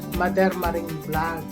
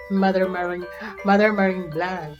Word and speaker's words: Madermaring: Sa Tagalog or sa Bisaya o sa Badiha, pag-pronounce MADERMARING vlog. MADERMARING vlog. Pero i-Americanize nimo MADERMARING vlog.